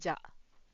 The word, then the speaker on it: じゃ: the easier form to say it is ja.